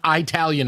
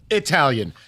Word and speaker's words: Italian: First of all, if you ever say the word Italian again, I'm going to slap you. All right. It's Italian, not Italian.